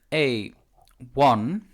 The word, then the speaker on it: one: if you look at a one the o is not the first sound you make the first sound you